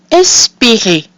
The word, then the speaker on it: espérez: So we have I followed by two consonants, which is pronounced E. We have I with an accent aigu, which is pronounced E. and the combination EZ, which is also pronounced E. That gives us espérer.